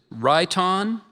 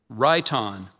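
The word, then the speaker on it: rhyton: The word is raon. It's a noun, an ancient drinking horn, usually with a base formed as the head of an animal, woman, or mythological creature. Ron.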